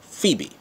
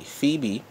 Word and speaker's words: Phoebe: no Greek Roman mythology Phoebe which means bright if you look at the look at the word is spelled th 0 ebe that pho is how you know include to come out light like photo CB in